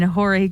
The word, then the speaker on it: Horry: Thelma and Louise were reported as escapees by their owner in Horry County. Horry? Horry County. Horry. How do you spell it, you child? Horrry. Horry. Like Robert Horry. Robert Horry.